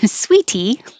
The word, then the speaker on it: sweetie: And sweetie is spelled with a T, like, oh, my sweetie. Sweetie. The T changes to a D because it's between two voiced sounds.